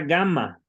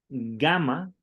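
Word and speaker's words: gamma: hablamos también de la gama que siempre siempre se pronuncia como una G fuerte de gato verdad nunca como G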